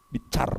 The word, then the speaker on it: binsar: Bicar, binsar nulisnya ya. Menteri kita namanya Binsar, Luhut Binsar. Bicar bacanya itu.